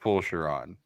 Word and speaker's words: Fulchiron: Yes, and it's pronounced Fulchiron.